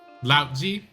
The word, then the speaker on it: Lao Tzu: It's actually pronounced with like a D, but I'm gonna say a T because that's how they spell it.